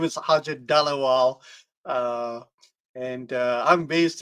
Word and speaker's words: Harjit Dhaliwal: Today we have an amazing special guest called Ajit Twa. Sorry, I pronounced it wrong.